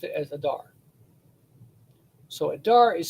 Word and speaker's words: Adar: made it into the word Adar, where they pronounced it as Adar. So Adar is spelled month and grain, but it's pronounced as Adar for the month name.